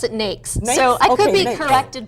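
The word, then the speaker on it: NAICS: NX or how do you pronounce that I pronounce it NES so I could be corrected by somebody in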